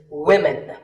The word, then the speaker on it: women: One word that's often mispronounced by learners of English is women. This is, of course, because of the English language's crazy spelling system. But remember that we say woman for one woman and women for the plural.